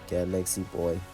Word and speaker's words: Gal X Boy: That's when he came up with a name that was more inclusive, Gal X Boy, pronounced Galaxy Boy.